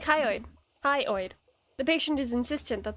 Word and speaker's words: hyoid: to tell anyone the hyid bo hyid bone pronounced like hyid hyoid the patient is insistent that the bone is